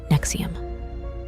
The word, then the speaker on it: NXIVM: AKA pyramid scheme but then came nxivm pronounced Nexium thanks to Natalie Keith